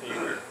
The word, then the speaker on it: Hebert: That was the day of a man by the name of Everest Hebert, H-E-R-B-E-R-T, pronounced Hebert, became a New Testament preacher, and he immersed, I think, 3,000 Catholics.